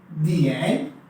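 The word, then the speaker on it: 点: इसकी जो प्रोनाउंसिएशन है वो है दिएन दिएन दिएन।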